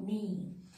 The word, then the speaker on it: knee: Now, the last one is silent K. See, when K is sitting just beginning of the word and after K, N is there. In that case, silent K is applicable.